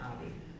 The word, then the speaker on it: Abbey: Oh, you pronounce the E. Okay, Abbey.